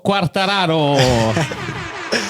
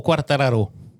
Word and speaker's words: Quartararo: Eh, ma l'altra curiosità, perché appena ti ho presentato mi è venuto in mente, si dice Quartararo o Quartararu, come l'hai detto prima, quartararo normale, quindi senza accento francese.